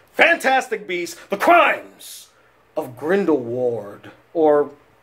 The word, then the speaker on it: Grindelwald: Beast the crimes of grindle Ward or grindle VA because they pronounced the W as a v in this film so from now on